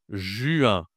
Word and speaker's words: juin: Le 6e mois de l'année, c'est Attention, la prononciation est difficile ici. J1 J1 juin Alors, on a pas un ou mais un u. Ju, d'accord ? Et ici, une nasale.